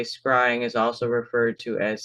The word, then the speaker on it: scrying: Any reflective surface for scrying." So, this word scrying is spelled s c r y i n g.